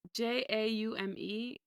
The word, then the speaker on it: Jaume: I don't know how to pronounce this man's name. Juame? Joanna Man? It's Jaume.